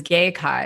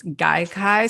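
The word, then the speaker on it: Gaikai: then the pronunciation that the first one on google was gay kai and so it's guy kai so just everywhere you are just don't pronounce it the way i did pronounce it let me cover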